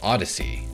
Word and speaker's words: Odysee: the market and it's called odyssey spelled o-d-y-s-e-e yeah i'm gonna take